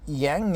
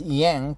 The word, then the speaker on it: Yang: body TCM recommends warm young energy young young energy in Chinese Yang the correct pronunciation is Young not Yang but Americans pronounce it Yang TCM recommends warm wine